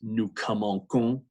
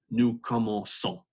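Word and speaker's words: commençons: the sea soft because when a sea is followed by e it's a nice soft sea sound usually when a/c is followed by oh that hardens up the see so this would be pronounced new komoku but again the verb is como say it's a soft seat so they insert this idea to preserve the soft see new como soul and then back to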